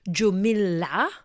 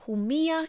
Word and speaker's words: Jumilla: the transcript for spellings many people may call this Juma because it's spelled with a J but Jia is its name and it's certainly not